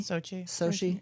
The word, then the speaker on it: Sochi: So also with this whole Olympics that just happened in Sochi, am I saying it correctly? Sochi, yeah.